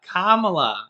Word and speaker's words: Kamala: kamala and andrew yang it's not kamala oh yes kamala kamala now what's the trick that you taught me think of comma yeah kamala i used to say kamala kabala kamala i used